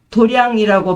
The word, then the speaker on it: 도량: 불교에서는이 도장을 도량이라고 발음해서 깨달음을 얻기 위한 공간으로 일반 무술 도장과 구별했었습니다.